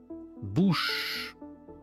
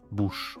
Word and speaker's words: bouche: Bush c'est facile pour une personne anglophone de dire bouche. OK la bouche.